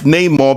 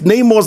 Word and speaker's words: Namor: Victoria Alonso clarifies Namor's name in the MCU is pronounced Namor and derives from El Niño Sin Amor, which translates to the boy without love, a totally ridiculous